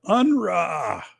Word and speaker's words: Unruh: He's like, that's how he pronounces his name. I am Unruh.